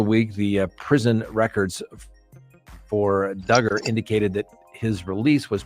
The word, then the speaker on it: Duggar: jury in Arkansas found Duggar rhymes with hugger guilty in December of